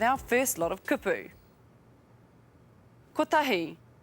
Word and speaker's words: kotahi: Kotahi. 1. Kotahi.